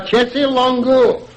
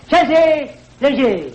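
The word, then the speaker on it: chaise longue: It's a Chessie Longo. Sal. Your French is terrible. It's even worse than that. You pronounce it Chese, Leger.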